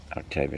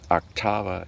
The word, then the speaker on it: Octava: bit of a tangent octavia chamber orchestra octava chamber orchestra i can't believe i mispronounced it ubiquitous star trek emblem